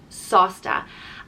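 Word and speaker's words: sásta: talking about it and it's sausta it's pronounced sauce like a sauce that you put on your food sausta and it means kind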